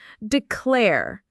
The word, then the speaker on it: declare: Declare. Notice the stresses on that second syllable.